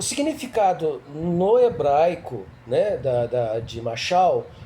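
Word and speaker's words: משל: Parábola no hebraico, ela se escreve, se fala machal, no singular, e no plural machalim.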